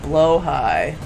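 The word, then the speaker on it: Blåhaj: The Swedish pronunciation is close to blow high.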